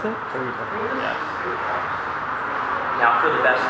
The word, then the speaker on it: Trevita: Is that how you pronounce it? Trevita.